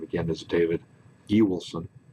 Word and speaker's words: Ewoolson: If you've watched the opening clip on Carmen, you've already been introduced to me, but my name again is David E. Wilson. That's pronounced E. Wilson.